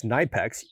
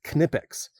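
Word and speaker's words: Knipex: to the Knipics which I was corrected once for calling this Nipex. I was doing like I guess the American uh pronunciation of KN together. So these are Germanmade pliers and so it's Kipex.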